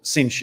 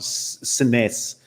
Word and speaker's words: Sines: believe they're coming through cinch which i found out is called cinch in portugal not sines as you might see it on the map as an english speaker so that's s-i-n-e-s everybody but that beautiful pronunciation